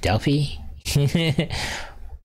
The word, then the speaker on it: Delphi: the Oracles of Delphi it's actually pronounced Delfy it should be Oracle